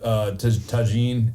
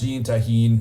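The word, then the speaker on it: Tajín: hit it with some tagine and then a lime, and then you just drink So it. that's how you pronounce that. Tagine. Well, it's tahine, whatever.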